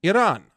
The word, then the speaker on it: Iran: Iran.